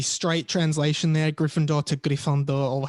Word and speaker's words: Gryffondor: Hey, so the correct French pronunciation of the Hogwarts houses, we have Gryffindor, Gryffondor, Ravenclaw, Sœur d'Aigle, Hufflepuff, Pouf Souffle, and Slytherin, which is Serpentard.